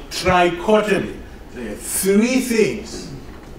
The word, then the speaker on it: trichotomy: So the third axiom is the axiom for total ordering called trichotomy. There are three things. Trichotomy. Rhymes with lobotomy.